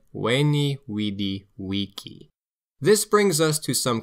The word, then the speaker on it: Veni, vidi, vici: But in fact, Julius Caesar said, "Veni, vidi, vici."